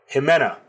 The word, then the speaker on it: Jimena: Now we're on to Different Beast by Jimena. Somebody in my comments corrected my pronunciation. It's Jimena, not Ximena.